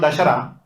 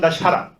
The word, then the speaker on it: Dasara: to ask you guys what you mean by dasar or dashar because in different parts of India it has been pronounced differently in South India it's called dasar but in our side in ouria it's called dasara so here I will